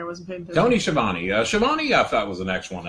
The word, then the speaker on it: Schiavone: Schiavone, I thought, was an excellent announcer.